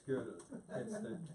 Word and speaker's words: Gödel: Yeah, it's Gödel. That's the German.